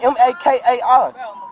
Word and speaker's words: Makai: It's not Okay, McCall. It's stop. Makai. Sorry, Makai. Makai. I don't like that. Don't say my name wrong. M-A-K-A-I. Makai. Makai.